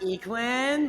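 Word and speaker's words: Yikun: sponsor is uh yakun discs yes it's actually pronounced equin but it's okay that was going to be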